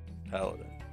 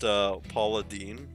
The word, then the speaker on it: paladin: Paladin. I got like decked right across the side of the head for trying to persuade my GM one day that it's pronounced Paula Dean.